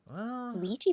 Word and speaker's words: Ouija: doesn't appear too talkative the wedgie board the Luigi podcast yeah he seems like he likes to laugh Ouija board no no no you're still saying it wrong father it's Luigi Ford